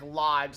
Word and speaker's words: Lodge: say their company name it's just like lodge like a camping lodge yeah pronounced like just